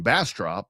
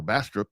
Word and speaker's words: Bastrop: And then it turned out that the team that we played from Bassrop or Bastrop depending how you say it cuz it was Bassrop versus Lockheart.